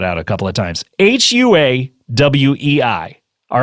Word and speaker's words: Huawei: Huawei fitc comedybangbang now that's huwei do why can't I pronounce this right I want to get to the fit no it's Huawei dotfit SLC comedybangbang right to